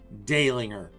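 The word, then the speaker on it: Dehlinger: pinot from dalinger and it's pronounced dailinger by the way i get i got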